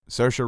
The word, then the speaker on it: Saoirse: It's Saoirse Ronan.